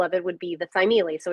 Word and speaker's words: Thymele: Yeah, so it's pronounced Thymele, and the word is actually Greek.